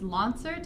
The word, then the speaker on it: Lonsert: last name it's pronounced LAN cert exams a concert with an L I which is at